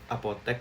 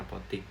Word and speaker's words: apotek: Nah, ini menarik juga, kata yang benar adalah apotek, bukan apotik.